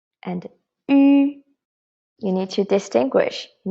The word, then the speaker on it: ü: how to pronounce the ü here first of all try to pronounce e so pronounce e and then do not change your tone inside just change the shape of your lips so watch me carefully